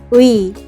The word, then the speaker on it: 의: The last vowel is 의, 의, is pronounced first by saying 의, and then 이, pronounced quickly in that order.